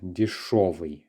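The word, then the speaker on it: дешёвый: We do use the letter ё, and we pronounce it as шо, дешевый, okay?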